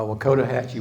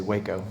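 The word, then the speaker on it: Wakodahatchee: way away right uh Wakota Hatchy wetlands people have lots of interesting ways of pronouncing that I think I said it right but a lot of people just say Waco or wacko and it's another one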